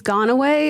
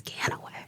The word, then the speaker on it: Ganaway: station with one of my pals here, Ganaway. Ganaway. It's like every Christmas song where it says Gone Away. I'm like, no, it's Ganaway.